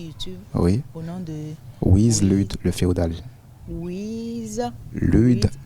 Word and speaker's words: Wiz: Le Wiz, au départ, c'était wise. Sage en anglais. D'accord. Voilà, donc c'est après la prononciation de wise Lude, ça gênait un peu trop les gens. Donc j'ai dit mieux vaut mettre IZ au lieu de voilà, donc c'est devenu IZ au lieu de SE, donc c'est Wiz Lude le féodal.